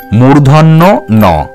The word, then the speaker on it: মূর্ধন্য ন: বলবো সেটি হলো মূর্ধন্য ন এই বর্ণটির সঠিক উচ্চারণ মূর্ধন্য ন এছাড়া অন্য কোন উচ্চারণ কিন্তু তোমরা করবে না